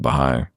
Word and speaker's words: Baha'i: never thought I would call myself a Baha'i, if I could even pronounce it then, because it looks like a more complicated word than it is to sound. It's got a lot of accents and apostrophes. And it's technically an Arabic word.